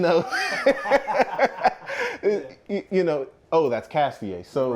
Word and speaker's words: Castillet: That accent emphasizes the yay sound. So, really, actually, I got the idea from my father. He was like, since that's what makes Castillet a name and not